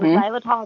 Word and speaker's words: xylitol: So, xylitol, it's spelled X Y L I T O L.